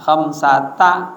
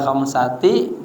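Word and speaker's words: خَمْسَةَ: Dibacanya mabni atas fathah. Khamsata. Ah, kagak boleh khamsati, kagak boleh kham satu.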